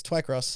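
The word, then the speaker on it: Twycross: books TW Twi cross oh I I uh spell it is it tww y yes yeah it's Twi cross Twi cross so I mean that I mean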